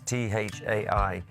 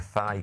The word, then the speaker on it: Thai: He said, no, from Thailand. Because he wasn't very good at pronouncing things. Thailand. Taigo. Of course, it's Thai. So he said he's going to make a thigh curry.